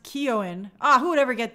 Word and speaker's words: Keoghan: Barry's name is pronounced Keoghan.